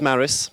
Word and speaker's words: Māris: badly i suppose you will tell how to pronounce it correctly yes i will do hi my name is maris on a daily basis i run an e-commerce